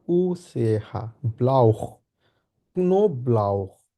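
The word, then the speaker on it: Knoblauch: no brow দেয়া নো এটাকে আমরা বলে হচ্ছে কা এন ও এটাকে বলে হচ্ছে নো কে এন ও আছে যেহেতু নো বলবো তারপর হচ্ছে ব্লাউ বে এল আ উসে হাহা ব্লাউ নো ব্লাউ নো ব্লাউ নো ব্লাউ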